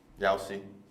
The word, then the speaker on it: Yowsi: It's Yowsi, by the way. Yowsi. Yeah. I'll see. Just want to make sure we didn't blow that on the podcast. Gotta pronounce it right.